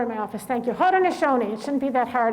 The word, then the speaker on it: Haudenosaunee: Oh, somebody gave me the pronunciation, phonetic pronunciation. But I don't have my glasses on. Well, say it out loud. Haudenosaunee. I practiced that over and over in my office. Thank you. Haudenosaunee.